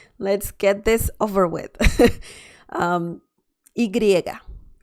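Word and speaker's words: y griega: get this over with igriega igriega that's the name of this one and the sound is ya ya ya so this is similar to the y in english but some people also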